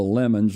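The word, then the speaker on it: Lamon: It's one of the Lemons, or sometimes they pronounce Lemon, but in West Virginia it's always Lemon.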